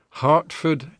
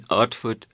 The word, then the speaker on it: Hartford: eventually marries her and she does the age dropping all the time she does yes one of the things he trains her to say is let me get it right in Hartford Hereford and Hampshire hurricanes hardly ever happened that's hard even foreign so we she would say in artfood arafort and okay I